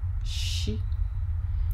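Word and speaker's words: ṣ: be teaching today is she you know you remember there is s without a doubt underneath we talked about that last week that one is pronounced si si thus is she she she and the first example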